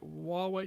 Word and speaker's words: Huawei: the company that is the leader in china is spelled h-u-a-w-e-i and how would you pronounce that it's called